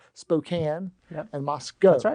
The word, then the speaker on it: Moscow: And so, co-company, uh the cows are in Russia, but the Moscow is in Idaho. There's no rhyme or reason to that one, but Moscow.